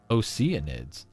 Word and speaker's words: Oceanid: And like it is Oceanid, where the ocean part is pronounced as the word oceanic.